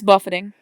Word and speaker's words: buffeting: you pronounced it, but it's buffeting because when I first read it, I was like, that's how you spell buffet.